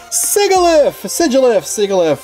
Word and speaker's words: Sigilyph: and win the game and sigoulif however you want to pronounce it i guess there's alternate pronunciations for that i like sigilyph though sedulif gx mirror